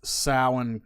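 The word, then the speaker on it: Samhain: to the ancient Celtic Festival of sowin pronounced salmon Celts who live 2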